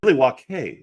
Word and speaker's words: Milwaukee: It's pronounced Milwaukee, which is Algonquin for the good land.